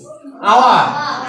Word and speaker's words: hour: তাহলে এইচ is silent, উজ্জ আছে, এখানে এইচ এর উচ্চারণ হবে না, নাই।